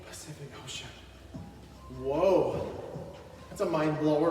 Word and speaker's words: Pacific Ocean: Did you know that every letter C in the word Pacific Ocean is pronounced differently? Pacific Ocean.